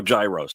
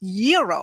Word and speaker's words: gyro: in line at Papa Gyros I order the gyro Supreme suddenly the lady behind me chimes in it's pronounced Euro then the fow behind her says it's a gyro I turn my back